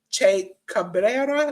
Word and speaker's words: Che Cabrera: Dominic Gennari and Kevin Koo defeated the Wolf Zaddies of Bad Dude Tito and Che Cabrera. That's how you pronounce it?